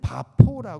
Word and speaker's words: 바보: 지나서 또 다른 항구도시인 바보 원래는 바 포라 고 발음 한다고 합니다 이 바브 란 곳에서